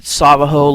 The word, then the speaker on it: Savajo: don't let up attack Captain sabajo like the Navajo tribe or Sao oh